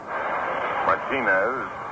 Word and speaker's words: Martinez: You know, there are many names which become anglicized, even if not publicized. Take on a different accent. Pitch is inside for a ball, 1-1. Many people call themselves Martinez. Martinez is his pronunciation.